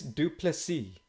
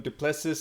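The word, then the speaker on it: Du Plessis: now you know and Dana butchered it and he was like guys it's draus dupy and it's like and I think that Dana was calling him dupus and it's like you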